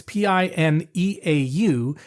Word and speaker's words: Pinot: Actually, I'll just tell you, it's Pineau, and the d'Aunis is D'Aunis.